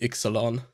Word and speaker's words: Ixalan: also do that but the more common way for it to be pronounced would probably be exelon gotcha all right well